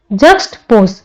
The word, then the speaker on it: juxtapose: जक्सटपोज इसका प्रोनाउंसिएशन होगा जक्सटपोज, यानी तुलना करना।